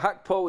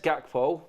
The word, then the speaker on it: Gakpo: Oh, Hakpo is how you pronounce his name, everybody. You know what? It says Gakpo, but it is Hakpo.